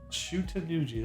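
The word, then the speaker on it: Shuten-dōji: Shutendoji, that's how you say it.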